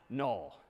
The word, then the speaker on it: NUL: this character is again sort of pronounced null or written n-u-l so that's all right